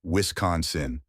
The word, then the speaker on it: Wisconsin: The correct way to say it is Wisconsin, with the emphasis on the second syllable con. Some people mistakenly pronounce it as Wisconsin or Wisconsin, but those are incorrect.